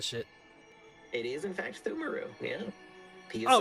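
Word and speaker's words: Pthumeru: How do you pronounce that shit? It is in fact Thumaru, yeah.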